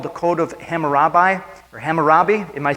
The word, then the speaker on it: Hammurabi: a thing called the code of hammurabi or hammurabi am i pronouncing it right kim very good okay and